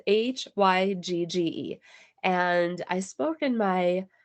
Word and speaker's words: Hygge: It's spelled Hygge. Hygge. So, Hygge, it's Hygge.